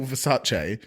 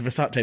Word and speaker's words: Versace: Why is her name Crystal Versace? Your branding is Versace, but everyone says Versace. Like she knows that that's not how to say it.